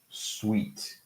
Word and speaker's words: suite: So suit, sweet.